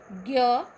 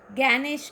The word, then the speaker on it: ज्ञ: हम मराठी में ज्ञानेश्वर कहते हैं, लेकिन हिंदी में ज्ञानेश्वर कहना है, ज्ञानेश कहना है। इसलिए ज्ञ का उच्चारण करते समय हमें पहले द्य और बाद में न का उच्चारण होता है।